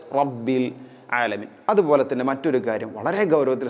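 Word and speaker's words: رب العالمين: ആളുകളിലും കണ്ടുവരാറുണ്ട് ശ്രദ്ധിക്കുക അതുപോലെതന്നെ റബ്ബിൽ ആലമീൻ റബ്ബി അല്ല റ റ റഇനെ കനപ്പിക്കുകയാണ് വേണ്ടത് റബ്ബിൽ ആലമീൻ അതുപോലെതന്നെ മറ്റൊരു കാര്യം വളരെ ഗൗരവത്തിൽ ശ്രദ്ധിക്കേണ്ട ഒരു കാര്യമാണ് ഇവിടെ ഇൻഷാ അള്ളാ റബ്ബിൽ ആലമീൻ എന്നതിലെ ലാമും ഐനും പല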